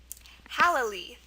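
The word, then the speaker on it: hallali: it's not that one it's pronounced halali halali um and it's a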